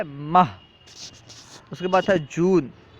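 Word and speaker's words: مه: تلفظ ہے آوریل۔ مئی، مئی کا فارسی تلفظ ہے ماہ۔ اس کے بعد ہے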